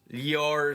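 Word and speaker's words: ljósálfar: The J is pronounced like a Y. Okay. Yvar.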